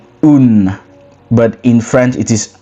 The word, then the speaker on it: un: a bit different which in French you say un but in French it is uh which is